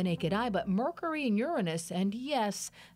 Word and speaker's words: Uranus: The bright planets Venus, Mars, and Jupiter may be seen later with the naked eye, but Mercury and Uranus, and yes, that's how astronomers pronounce the planet, may be tough to see.